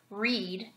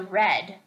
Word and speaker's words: read: from bleed to bled I just want to point out the verb read which changes to read but the spelling does not change so the only way you know how to pronounce the word is to read the whole sentence and decide which one you need to say at the bottom they